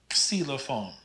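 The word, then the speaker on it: xylofoon: we do in english they still pronounce it as a ks sound so this is xcelophone xilophon the z is pronounced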